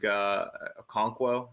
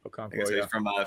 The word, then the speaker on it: Okonkwo: But I do think one guy who will probably be pretty chalky is Chig Okonkwo. That's how you say his name. Yeah. Okonkwo, from Tennessee, and I like him.